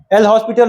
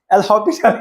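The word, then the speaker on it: L'Hôpital: Actually क्या है कि फ्रेंच नेम है हॉस्पिटल में एस साइलेंट रहता है ठीक है हॉस्पिटल एल हॉस्पिटल है लेकिन पढ़ने के लिए ऐसे पढ़ते हैं।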